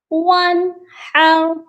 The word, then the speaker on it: وَانْحَرْ: گا، فَصَلِّ لِرَبِّکَ وَانْحَرْ، اور نون ساکن پر غنہ نہیں کرنا، یہاں پر اظہار ہوگا، وَانْحَرْ۔ اور سب سے بڑی